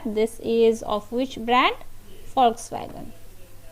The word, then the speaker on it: Volkswagen: Yeah, it's pronounced as Volkswagen, okay, shortened to VW.